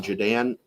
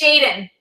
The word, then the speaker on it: Jaden: It's going to be Jadan. Yeah. Did I say it right? It's Jaden.